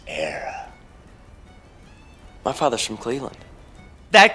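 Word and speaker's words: Éire: The land to your fathers isn't Erie, boyo. It's Era.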